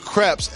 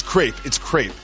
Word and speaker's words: crepe: Yeah, and then everyone got mad at me for calling them crepes, and they're like, it's crepe. Like, no. Crepe, it would be spelled like grape. This is crepe, because in French you say crepe.